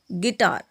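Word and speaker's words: guitar: कोई भी वॉवल आता है, जैसे कि गाइल, गिटार, गार्ड, बिस्किट, गिल्ट। इन सभी में जो यू है वो साइलेंट है।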